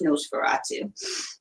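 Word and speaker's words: NOS4A2: it's like an OS for HD but it's pronounced Nosferatu so series I don't think that there's any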